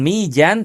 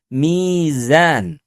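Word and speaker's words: ميزان: Jadi tidak dibaca wasamafaaha waal mijan. Bukan mijan tapi mizan. Huruf jim dengan huruf zai itu dua huruf yang berbeda. Makhrajnya pun juga cukup jauh ya. Jika huruf zai keluar dari ujung lidah kita, maka huruf jim itu keluarnya dari tengah lidah kita.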